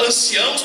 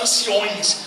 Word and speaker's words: anciãos: É igual anciãos para anciões. Não existe a palavra anciões, é anciãos. Quando vocês forem pronunciar, por favor, não pronunciem anciões, é anciãos.